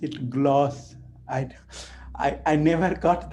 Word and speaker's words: GLACE: why it is called gloss so he said yeah Randy is from France so he used the pronunciation from the France so got it yeah